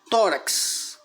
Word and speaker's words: tórax: Tórax. Sílaba forte, to, que forma uma sílaba só, rax.